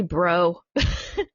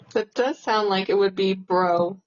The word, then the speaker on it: Breaux: I want to say Bro. Hey, bro. But it's Breaux. That does sound like it would be bro.